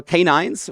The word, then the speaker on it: k9s: So this is k9s, or k9s, as it is properly pronounced.